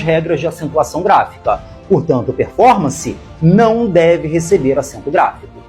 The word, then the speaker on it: performance: cuidado com o seguinte performance tem quatro sílabas e a mais forte é for performance então a palavra é